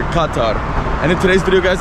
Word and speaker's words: Qatar: Good morning, my friends, and welcome back to another video in our Qatar series, guys, or as they pronounce here, Qatar.